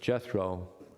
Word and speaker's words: Jethro: And we know of what we would call a close relationship between Moses and his father-in-law, Yitro, in English pronounced Jethro.